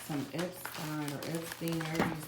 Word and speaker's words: Epstein: So it's Epstein. I'm gonna say Stein because that's really to me the proper pronunciation actually of his name, y'all.